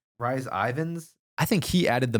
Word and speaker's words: Rhys Ifans: Pronunciation. Rhys Ifans.